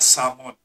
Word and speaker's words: salmon: But, of course, when you pronounce it, a silent L, kaya salmon.